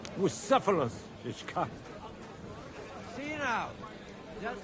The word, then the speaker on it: Bucephalus: It's pronounced Bucephalus, Ishka.